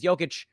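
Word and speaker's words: Jokić: Obviously, I know his name is Jokic, but the joke doesn't play unless you mispronounce his name.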